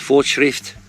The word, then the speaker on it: Fortschritt: I think it's pronounced Fortschritt Baler.